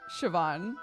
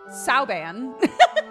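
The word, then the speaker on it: Siobhan: recently and both times I've originally called it saan and chat's been like that's an Irish name that is not how you pronounce it so it's burned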